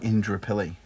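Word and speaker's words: Indooroopilly: terms of like right it was spelled indor ruly but they pronounced it Indra pilly oh okay um so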